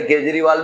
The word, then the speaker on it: केजरीवाल: जैसे केजरीवाल में H silent है ना?